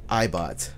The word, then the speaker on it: iBot: going to call him iBot but it's not spelled like eye because it's a it's an it's an i it's spelled I like lowercase i b o t boom